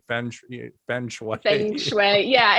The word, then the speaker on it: feng shui: I'm pronouncing that right? Feng shui.